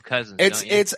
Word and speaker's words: Cousin: It's Cousin. So it's literally exactly as it's spelled. It's Cousin is how the pronunciation guide puts it.